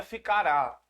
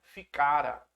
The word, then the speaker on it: ficara: ficara ficara sem cara cuidado não é ficará ficara tem acento a pronúncia que é ficara ficara sem cara ele